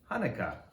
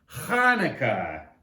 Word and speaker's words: Hanukkah: it with me chanukah actually both hanukkah and chanukah are correct the holiday's name is in hebrew so there are different ways to spell it and say it in english thanks applesauce says lucy